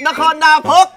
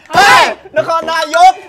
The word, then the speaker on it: Nakhon Nayok: - Adventure in Nakhon Nakok - Finally, we're here in Nakhon Panok! -mispronounced- Nakhon Napok! Nakhon Nayok! The last one is correct!